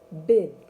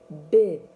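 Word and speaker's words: беҙ: Мы произносится так. Бед. Бед.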